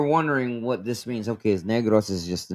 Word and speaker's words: Negros: Now, just real quick, for those of you who are wondering, we've covered people from Negros.